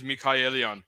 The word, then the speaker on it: McCallion: Well, the Armenian pronunciation is Mikhaelion. Like Michael, Mikhail. That's not how you taught me. Okay. Yeah, Mikhaelion. But yeah, Mikhaelion's the English version, so it works.